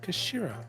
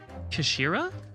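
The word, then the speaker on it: 頭: It's written head in Japanese, but it's pronounced Kashira, I believe. Kashira?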